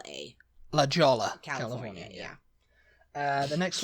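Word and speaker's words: La Jolla: A next word j o l l a Lola California yeah uh the next one Lola yeah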